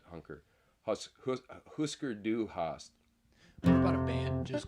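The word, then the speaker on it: Hüsker Dü: Husker Du Hast. What about a band just called Umlaut, but you spell it out?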